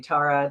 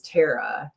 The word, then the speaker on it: Tara: It's just It's just No, my name has two different pronunciations. Actually, three. So, a lot of people will call me Tara. That's especially the the way a lot of African-Americans pronounce it. So, I've always answered Yes, I've always answered to Tara. And then my flat Midwest A sound is Terra. Terra, like the very nasally A almost. And then the East Coast pronunciation is Tyra.